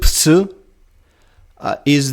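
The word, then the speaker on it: ψῖ: So the zd is zd, and the ks is gs, ks, and ks, and ps, ps, ps is the psi, and they are respectively derived from these clusters, and th, f, k are called aspirates.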